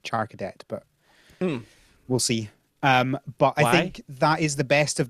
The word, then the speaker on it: Charcadet: I think that I'm going to say I think it's pronounced Sharkaday rather than Charcadet, but we'll see.